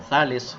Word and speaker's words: Tales: Una cuestión básica que hay que tener en cuenta es que Tales, o Thales, como se pronunciaría en griego, fue en algún punto de la vida maestro de Anaximandro.